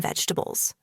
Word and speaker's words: vegetables: A lot of people say it like this, vegetables, slowly and with every syllable. But in natural English, we often say it faster and smoother. Vegetables. Only three sounds.